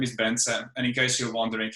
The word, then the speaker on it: Bence: of people know me so my name is bensen and in case you're wondering how to pronounce this weird name the key is that